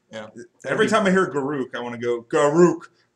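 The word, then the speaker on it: Garruk: Uh, Garrick. Yeah, because way not groo. Gar. Yeah. Every time I hear garuk, I want to go gar is on fire.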